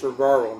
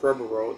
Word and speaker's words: Trevorrow: Yes, pronounced Trevaro, not Trevoro that I said in my Jurassic World reviews.